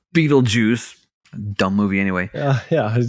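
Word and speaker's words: Betelgeuse: I like to pronounce it Beetle Juice, not Beetle Juice.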